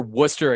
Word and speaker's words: Worcester: Well, he plays for Worcester Academy, which if you're not from here or you don't live here, is spelled Worcester. That's Worcester. Spelled nothing like it sounds.